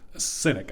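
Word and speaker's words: Sinek: to your questions yeah simon cynic i think is how you pronounce his last name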